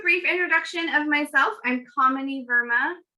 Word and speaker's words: Kamini: I'm Kamini Verma. Kamini rhymes with hominy, spelled completely different.